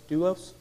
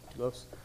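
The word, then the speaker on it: δοῦλος: what our calling is, doulos, that's how you pronounce it, doulos, being a bondservant, like willingly committing yourself.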